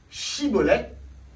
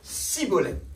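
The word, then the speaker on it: Shibboleth: C'est toujours Shibolem. Et la prononciation, c'est Chi. Et l'autre, c'est Sibolem. Il n'y a pas le H.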